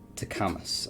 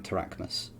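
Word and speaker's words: Tarchamus: c-h-a yeah so t-a-r-c-h-a-m-u-s to camus i think it might supposed to be uh but we're saying tarachmus because you don't have to say things the way they're spelled no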